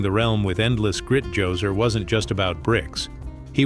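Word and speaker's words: Djoser: The story kicks off with King Joser, pronounced Jose, the first ruler of the third dynasty, a man who leaned heavily into the whole god king concept.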